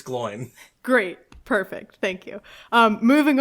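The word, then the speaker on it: Glóin: But it's, I think, technically supposed to be pronounced Gloween because there's an accent on the I, and there's been a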